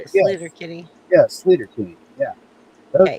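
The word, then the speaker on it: Sleater-Kinney: Stellar Kinney? Sleater King. Yeah. Yeah, that way, Caldy. That's how you say it. Sleater Kinney.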